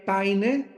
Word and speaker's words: Payne: Barton, Payne se escribe P-A-Y-N-E, Paine, J.